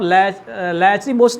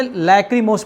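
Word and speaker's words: lachrymose: वीरता फिर लैचरी मोस इसको आप लच मस नहीं पढ़ सकते हैं क्योंकि यह साइलेंट है इसको एक्चुअल में लैक्रीमोस पढ़ेंगे क्योंकि एच जो है साइलेंट है इस नाते लकरी मोस पढ़ेंगे लरी मोस नहीं पढ़ेंगे लेकिन इसके मीनिंग को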